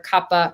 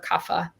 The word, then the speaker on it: Kapha: And then we have our water and our earth, which is our Kapha or Kapha. Again, depending on how you say it.